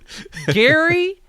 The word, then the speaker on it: Gary: bear you're like why is it glum guri gary has one spelling this is just sort of